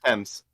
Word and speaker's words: Thames: Everyone mispronounces it, but it's Thames. Thames. Thames.